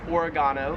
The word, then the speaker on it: oregano: We would call it oregano in the States. However, here in Australia, it is pronounced oregano.